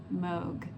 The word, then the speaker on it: Moog: So, if you can in the comments go down there and and type in it's actually pronounced Moog, that would be awesome.